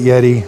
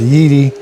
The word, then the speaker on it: Yeedi: know in the first video I called it Yeti it why they chose that name it's way too similar to a Yeti but it is pronounced yeii cuz the robot does have commands that it